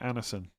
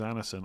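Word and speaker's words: Andersen: D is mute after N. Okay. Anderson. Okay.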